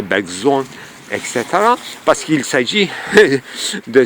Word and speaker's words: Bergson: Même Bergson, il faut le prononcer Bergson, etc.